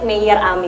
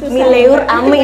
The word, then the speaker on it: Meilleur Ami: Tapi ngomong-ngomong namanya ini kan Mayor Ami. Mungkin kalau orang biasa yang belum tahu gimana cara bacanya itu Mileur Ami ya gitu ya.